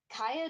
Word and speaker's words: Kya: I mean, Kaya doesn't look like either of her siblings.